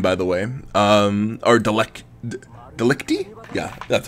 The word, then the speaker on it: Delicti: Delicti? Yeah, that's how you pronounce it. Corpus Delicti.